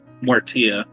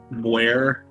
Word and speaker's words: Muertia: How do you pronounce the first part? Mortia. Mortia, that is a god herself. Muertia, it's Spanish.